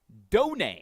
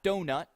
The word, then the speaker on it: Donay: the bat for Brody Donay. Oh, my goodness. I had to listen to the call from Evan Hughes just to make sure I pronounced his name correctly. Yes. It's Donay. Yes. Not donut.